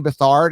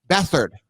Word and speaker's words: Beathard: same thing that's bothering me when we were pronouncing remember cj bathard it's with ard right but it's called bethard beathard beathard and i understand that sometimes you know